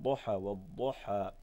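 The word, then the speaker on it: ضحى: And when you pronounce it, Duha, try not to pronounce the Dad from the tip of the tongue and the gums.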